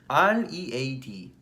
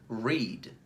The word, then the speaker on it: read: 예를 들면 R-E-A-D 읽다, read, read.